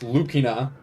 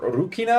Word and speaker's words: Lucina: one of them's Lucina it's pronounced lukina or urukina I think technically because R and L are kind of interchangeable as well that is one of